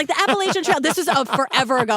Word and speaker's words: Appalachia: Tight-knit community of 2,100 people, 82 miles from Cincinnati on the western edge of Appalachia.